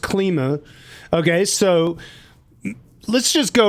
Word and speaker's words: Klima: So it's pronounced Klima.